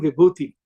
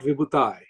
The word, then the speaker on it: Vibhuti: I am Vibhuti, I am not Vibhutai.